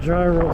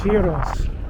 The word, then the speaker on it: gyros: call me i'll see it's not dry it's heroes that's how they say it yeah sure okay here's